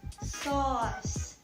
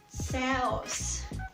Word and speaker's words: sauce: Another example is automatic and sauce. So it's not sauce, it's not sauce, right? It's sauce.